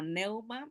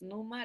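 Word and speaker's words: pneuma: no se pronuncia eh algunos lo ven escrito como neuma pero es Numa la pronunciación Así que la palabra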